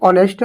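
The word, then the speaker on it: honest: एन ऑनेस्ट, अब देखो ऑनेस्ट मैन आ गया, ऑनेस्ट, तो ऑनेस्ट, ऑनेस्ट, ऑनेस्ट कहाँ से, जो क्या है एच साइलेंट है, तो बात कर रहा है कहाँ से, ओ से, तो क्या आएगा, एन का प्रयोग किया जाएगा।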